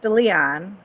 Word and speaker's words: De Leon: him at all explain Luxembourg well it's it's pronounced de Leon Daniel DeLeon was an American socialist and he